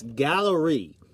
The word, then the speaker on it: Galloree: But the site, it's Gallery. Now, it's not spelled like gallery, but it's close.